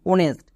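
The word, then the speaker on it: honest: এন ই এস টি অনেস্ট এখানে কিন্তু এইচ এর জন্য হো হচ্ছে না কেন হচ্ছে না কারণ এখানে এইচ সাইলেন্ট তাহলে আমরা যদি সাইলেন্ট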